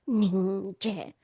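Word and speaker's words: nyingje: Compassion is an English word, but when you say it in Tibetan, it's ningje. Ningje. It's broken into two syllables.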